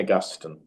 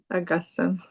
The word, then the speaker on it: Augustine: How do you say it? Saint Augustine. Augustine. But I know many people that say Augustine, I and know. I think that's fine too.